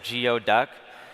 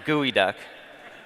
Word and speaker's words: geoduck: geo conference may have thought this is a geoduck it's pronounced gooey duck we brought a live one with us you